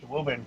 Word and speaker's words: Woburn: Yeah, and I always love the fact that it's pronounced Woburn and not spelled that way.